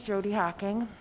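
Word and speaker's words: Jodi Hocking: on and then state your name and and spell it for the record and then go right ahead okay my name is jody hawking j-o-d-i-h-o-c-k-i-n-g um i'm the founder of return strong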